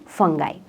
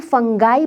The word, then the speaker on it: fungi: इसे हम फंगाई pronounce भी कर सकते हैं एज पर अमेरिकन इंग्लिश, और इसे हम फंगी भी कह सकते हैं एज पर ब्रिटिश इंग्लिश। तो चिल मारो, दोनों ही करेक्ट है।